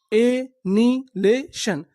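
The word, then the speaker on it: annihilation: एनीलेशन। एनहिलेशन। एनिलेशन। एनिलेशन का मतलब होता है विनाश, यानी आप किसी चीज का विनाश कर देंगे तो उसे हम लोग क्या बोलेंगे? एनिलेशन। एच आई का उच्चारण नहीं करना।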